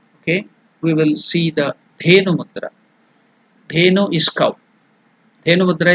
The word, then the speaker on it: Dhenu Mudra: The pronunciation is Da, Dha.